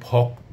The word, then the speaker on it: ভক্ত: গেল শক্ত যদিও কোন ওকার ছিল না কিন্তু উচ্চারণে আমাদের ওকার আসছে। তারপরে আসছে ভক্ত একই রকম অনুক্ত।